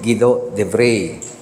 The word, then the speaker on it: Guido de Brès: Ang spelling niya, Guido de Brès. Pero kung siya bigkasin, siya Guido de Bray.